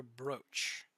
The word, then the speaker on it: brooch: I think it's either brooch or brooch. Let's see, is it? Ah, okay, so it's brooch.